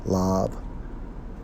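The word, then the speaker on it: לב: In the Hebrew, Strong's H 3820 pronounced as lab, which means what?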